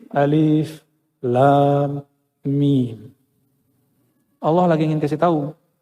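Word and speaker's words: الم: Kalau kita pakai ilmu tajwid kan bacanya almim. Benar enggak? Alif lam mim. Bacanya apa? Almim. Tapi enggak boleh dibaca begitu. Dibacanya mesti alif lam mim.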